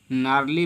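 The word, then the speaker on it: gnarly: जनरली लिखा है तो जी को नहीं पढ़ेंगे, बल्कि एन से स्टार्ट करेंगे, नार्ली पढ़ेंगे।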